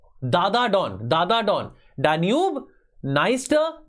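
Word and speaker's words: Dniester: नाइप एंड don river तो निस्टर और नाइप पर में डी साइलेंट होता है ठीक है डेन्यूब नास्टर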